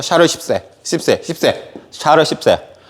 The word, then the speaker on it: 샤를 10세: 발음 잘해야 됩니다. 샤르 10세.